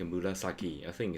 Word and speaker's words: 紫: ナスは紫です。紫。Even though it's like a murasaki, I think it's pronounced murazaki des.